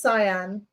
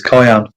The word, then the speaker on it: cyan: Um Rob, I pronounce that as cyan. Cyan. I used to pronounce it as cayenne.